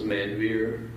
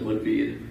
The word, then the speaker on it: Manveer: introducing themselves for example instead of introducing myself as manveer how people in america would say my name i would say my name is monvid and people would be